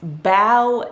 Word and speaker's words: bow: caught it and so it's not bow down it's bow down or take a bow so i was just